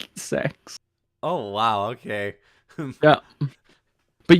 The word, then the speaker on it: CeX: look up CeX and yes it is it is pronounced sex um because and they